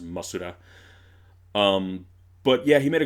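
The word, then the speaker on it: モスラ: Like in Japan, Japanese sheep Mothra would be pronounced Masura.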